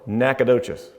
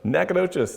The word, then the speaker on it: Nacogdoches: uh and that was in we call it nacogdoches just say knack for short that's how we pronounce that so nacogdoches texas and so i so later on kurt